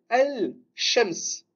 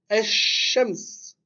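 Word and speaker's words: الشمس: Ici, ce qu'on fait, c'est que le lem, on ne le prononce pas et on met une shadda tout simplement sur la lettre qui suit. Et on va dire Eshems.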